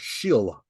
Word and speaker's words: Sheol: It comes from a ancient word called shil. Shil is spelled Sheol, and shil it means hell, but it also means physical body or physical world.